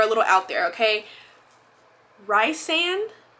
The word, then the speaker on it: Rysand: Rysand? It's not Risen.